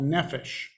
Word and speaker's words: nephesh: Well, if you're going to try the English spelling, a way to do it would be on the last word on the screen here, Nephesh, E-S-H. That's how it's pronounced as far as I know.